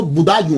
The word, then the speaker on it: بدایوں: اس کا تلفظ جو ہے وہ بدایوں ہے، کیونکہ یہ پرنس بوڑھا